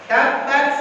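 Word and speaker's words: تبت: Tabbat yada abi lahabil wa tab. Jangan langsung. Itu kebanyakan imam salah di situ. Belajar Al-Qur'annya. Ya, ada di situ ada tasdid kan? Kalau ada tasdid, tabbat yada abi lahabin wa tab.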